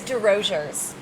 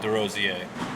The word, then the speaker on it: Desrosiers: How do you think we pronounce our last name? I don't want to say it's D Roers.